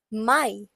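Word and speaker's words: Mai: April next we have May that we pronounce as my then we have June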